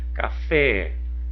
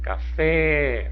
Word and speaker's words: café: chapéu vamos analisar ó café café Olha o fé é a sílaba tônica ela está aonde na última posição da palavra ela é